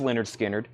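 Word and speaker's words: Lynyrd Skynyrd: That's on the Leonard Skinner, pronounced Leonard Skinner.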